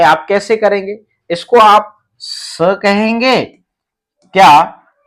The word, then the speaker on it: स: यदि इसको आप सा कहते हैं तो ये वाला बोल रहे हैं, इसमें लग जाती है आ की मात्रा और इसमें अस्वर मिला हुआ है, इसमें कोई मात्रा नहीं है। ये सिर्फ और सिर्फ क्या है? ये स है। तो यहां आप समझ गए कि इस व्यंजन वर्ण का उच्चारण हमें कैसे करना है? स।